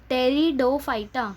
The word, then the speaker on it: Pteridophyta: Okay, and this is read as Pteridophyta. So the P here again is silent, so you should read it as टेरिडोफाइटा.